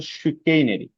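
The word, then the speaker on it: chicanery: আমাদের পরবর্তী শব্দ শিকেইনেরি, ঠিক আছে, উচ্চারণটা খেয়াল করবেন, উচ্চারণটা হচ্ছে শিকেইনেরি। শিকেইনেরি মানে হচ্ছে ধূর্ততা বা রাজনৈতিক চালবাজি বলতে পারেন।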